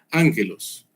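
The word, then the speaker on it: ἄγγελος: Así se ve todo bonito aquí a la izquierda y se pronuncia así como está a la derecha. Ángelos.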